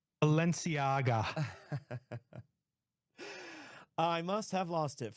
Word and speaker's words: Balenciaga: It was a, how do you pronounce it, Notorious? I have no, it's a Balenciaga. Balenciaga.